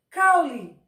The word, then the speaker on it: caule: eu posso ter uma palavra escrita com a letra e pronunciada como se fosse uma letra i como exemplo a palavra caule normalmente quando nós vamos